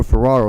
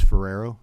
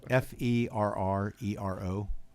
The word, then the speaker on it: Ferrero: To the right, I have Colonel Ferraro, who's also a lawyer and works with the National Guard as a legislative liaison. Colonel? Certainly. And, what's your last name? My name was Ferrero. Spell that. F-E-R-R-E-R-O.